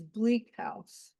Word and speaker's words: Bleak House: But I wanted to begin by I mean, the name of the book is Bleak House, or I noticed the Brits put the uh emphasis on the second word, bleak house.